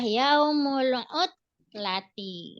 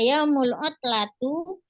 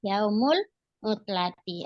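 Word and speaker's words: يوم العطلة: dalam keadaan kasrah ee Berarti Bacanya adalah yaumulud Lati jadi gak boleh dibaca Yaumul utlatu Yaumul utlata tidak maka yang benar adalah yaumulutlati artinya hari libur Iya kira-kira dari sini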